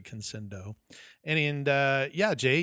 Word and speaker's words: Conscendo: it conscendo conscendo uh I think I was pronouncing it Kendo but it's actually conscendo and and uh yeah